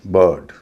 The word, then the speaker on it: bird: लेकिन अगला consonant are हो तो आई का उच्चारण ई ना होके अ होता है। जैसे BIRD बर्ड, CIRCLE circle, FIRST first, GIRL girl.